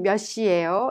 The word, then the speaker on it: 몇 시: The 몇 in 몇 시예요 is pronounced 몇 and it affects the next syllable, making 몇 시.